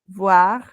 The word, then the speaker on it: voir: Voir, c'est ver, no ver, de mirar, ver. Y aquí tenemos estas dos, miren, aquí lo que nos diferencia va a ser la pronunciación de la V, porque aquí la E,